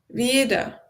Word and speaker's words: wieder: Wieder. Yes, yes. It's apparently a bit of a trap. IE, always we pronounce it as E, like a long E, and you don't even need to say E.